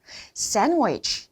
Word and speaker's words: sandwich: 연습을 해 두어야 되겠죠 Sandwich 이겁니다 어 어 샌드위치 줄 알았는데 샌위치 샌위치 거의 드 사운드가 들리지 않아요 아셨죠 위위위 그러면 샌드위치가 여러